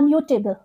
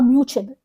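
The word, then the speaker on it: immutable: जाते हैं okay 406 इट is called a मूटे बल इट इज नॉट अ मूबल इट इ अटेब ये क्या है एडजेक्टिव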